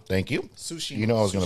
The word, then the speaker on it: Tsushima: Tsushima. Thank you. Tsushima.